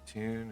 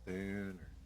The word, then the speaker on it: Thune: I don't think it's pronounced Tune. It's Thune or Dune. Yeah, he's like spoon with a lisp.